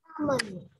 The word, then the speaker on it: salmon: Salmon. Salmon. Okay, not sal, right? We don't have the letter L when we pronounce that word, right? Salmon.